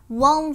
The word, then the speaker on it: won't: Won't look down. Lưu ý nhá, từ này là âm ơ u, vậy mình đọc là won't.